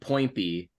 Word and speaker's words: Poinpy: Poinpy, like pointy, but with two P's.